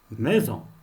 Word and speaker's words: maison: Deuxième prononciation, le S entre deux voyelles se prononce Z. Exemple, maison. Le S, il est entre la voyelle I et la voyelle O. Maison.